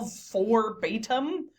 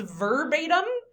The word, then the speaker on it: verbatim: He said the moral forbatim which is purposely mispronounced what he actually it was meaning was verbatim.